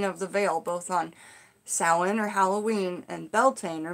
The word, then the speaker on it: Samhain: and before I was into YouTube, I always pronounced it Samhain, because that's the way it's spelled, but it's pronounced probably both ways, but Samhain.